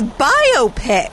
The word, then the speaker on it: biopic: biopic no you Dingus it's biopic who the hell says that it's biopic because it's the words for biography and picture if you all right